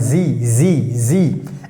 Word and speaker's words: sie: So here er means he, sie means she, the pronunciation, keep in mind, sie. S is pronounced like z, and sie means she, and here s means it.